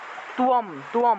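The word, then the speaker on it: ত্বম্: তাহলে এই শব্দটার উচ্চারণটা হবে তুয়ম, অনুস্বার থাকায় ম উচ্চারণ, তুয়ম তথা।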